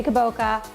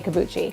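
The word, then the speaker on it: kabocha: I know, I know you say kaboka, I say kabuchi, but more importantly than how you say it is how you pick it.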